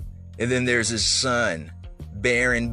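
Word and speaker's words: Barron: then there's his son baron baron rhymes with karen trump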